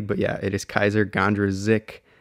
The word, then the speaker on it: Kysre Gondrezick: everyone i stand corrected it is kaiser gandra zik not gandrozek i know just personally